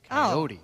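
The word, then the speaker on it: Kayode: It's spelled K-A-Y-O-D-E. Coyote. Okay.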